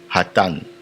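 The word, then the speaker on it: אתן: Et le vous féminin pluriel c'est hatan. Il s'écrit de la sorte ha hatan.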